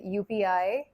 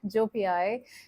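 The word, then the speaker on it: joepii: this is a filodendron UPI uh I do believe firmly that's how you pronounce it I've read a lot it's UPI and not Ji so UPI is here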